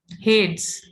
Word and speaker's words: Hades: Greek में वो Greek word है, हेड्स। हेड्स बोलते हैं उसको। ओके, पैराडाइसियस। अब मेरे से भी प्रोनाउंस नहीं हो रहा है, कंटिन्यू नहीं हूं।